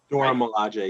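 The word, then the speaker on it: Dora Milaje: Like he's so great, and the way how he escaped the Dora Malay, if I pronounce correctly. Dora Malay, yeah, you got it.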